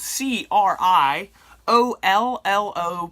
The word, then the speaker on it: Criollo: can't forget that now Criollo a lot of people pronounce that wrong spelled c RI o ll o pronounce Criollo almost like a plane with a yo yo creo yo so um one of